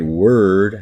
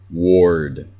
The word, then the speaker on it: word: hard as I am but word as an ER sound her it doesn't have an or sound you don't say ward if you mean word we talked about this